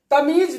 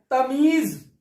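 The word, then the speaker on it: तमीज़: तमीज नहीं होता है, तमीज, ज के नीचे नुक्ता है।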